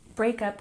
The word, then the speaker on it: breakup: Breakup, we put the emphasis on the first syllable.